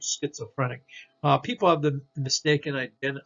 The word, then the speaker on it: schizophrenic: sound okay schizophrenic schizophrenic okay s c h schizophrenic uh people have the